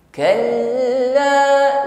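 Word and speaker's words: كلا: Setiap huruf yang bertasydid ditekan membacanya, ya. Namun kita tengok sifat yang menyertainya. Huruf lam sifatnya tawassut. Jadi walaupun dia ditekan hurufnya, tapi jangan sampai putus bunyinya. Bukan kal la, bukan, ya. Lunak saja. Kal masih jalan, bukan kal la, bukan, ya.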